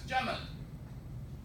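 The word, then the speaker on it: جمل: So this word became camel in English because of the Egyptian pronunciation of what we know as Jamal.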